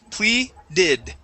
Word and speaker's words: pleaded: pleaded pleaded okay and this will be an ID sound not a dided sound pleaded pleaded pleaded there you